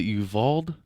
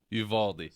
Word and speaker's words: Uvalde: So, speaking about school shootings, that shit, what is it, Uvalde? How do you pronounce it?